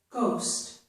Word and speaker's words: ghost: The H is silent and we hear only G. Here's an example in the word ghost.